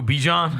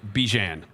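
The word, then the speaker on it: Bijan: Bejan. Bejian. Bean.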